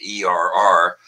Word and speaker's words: err: some irish bulls to er and by the way that's the preferred pronunciation er to urge human to share humor bovine so i'm gonna